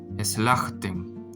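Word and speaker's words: סלחתן: Entonces, esto se lee como es aquí la aquí la jet, pero sin el sonido de la vocal e. Entonces eslajten, que significa ustedes perdonaron.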